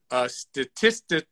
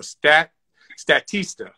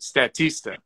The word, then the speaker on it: Statista: to invest in, but Statistica, I think I'm saying it right, .com is a great source of just every piece of information you can imagine. There is a monthly subscription subscription price to it. I think I'm actually saying it wrong. Statista, that's it.